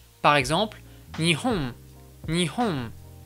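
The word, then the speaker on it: 日本: Par exemple, nihon, nihon. Tu remarqueras aussi que ce m japonais est beaucoup plus nasal, notamment la voyelle qui vient avant est un peu nasalisée, contrairement à la prononciation française.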